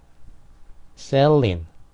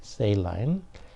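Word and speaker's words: saline: 여기서 유리했다는 거죠 그다음에 세일인 세일인 또는 세일라인이라고도 발음 하죠 세일인 세일라인 이것도 이제제 어 그는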